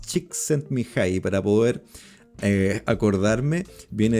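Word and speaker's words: Csikszentmihalyi: exactamente cómo se pronunciaba es muy difícil de pronunciar pero es Chick sent me High para poder eh acordarme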